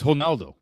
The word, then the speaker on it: Ronaldo: Now granted, announcers have been saying Ronaldo's name wrong his entire career. And you know this, right? Cristiano Ronaldo. Remind me what? It's hono in Portuguese. The Rs are Oh, yeah.